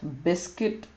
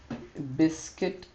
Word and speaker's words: biscuit: silent D silent U silent U like sa sa we have biscuit biscuit biscuit it's it's not biscuit